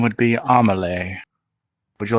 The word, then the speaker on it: Amelie: it down in case my name would be Amelie would you like me to pronounce that for you sure all right Thomas lay a m a l I know am e-l-i-e amole there we go I shall be sure to